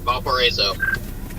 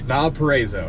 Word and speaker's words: Valparaiso: Valparaiso. Valparaiso. Alright, I'm gonna say that 10 times in my head. Valparaiso.